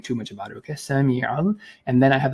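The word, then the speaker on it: sami'a: Now let's understand the details of the pronunciation. So the first thing is Sami, okay, Sami, and then I have here is al.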